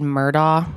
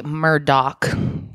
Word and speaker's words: Murdaugh: their last name looks like it should be said murdah and i think i have even referred to it as that during this video like i said half speeds guys it's actually murdock that's how you say it so the murdoch family